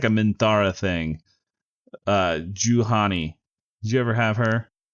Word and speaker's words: Juhani: Juhani. Juhani. I think that's how you say her name.